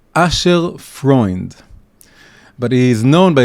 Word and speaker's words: Asher: is the way the that's the ashkanazi the Polish ashkanazi way of pronouncing the name Asher aser is one of the 12 tribes but it's pronounced as user and he was known